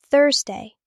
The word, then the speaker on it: Thursday: Thursday. Thursday is the fourth day. Thursday like thirst with day.